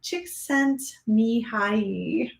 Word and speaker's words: Csikszentmihalyi: So I wrote down the pronunciation. It's Mohaili Csikszentmihalyi.